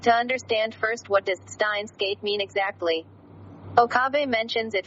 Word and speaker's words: Steins;Gate: However, its pronunciation is not Unmei Seiki no Tabira, but rather with the furigana, Steins Gate.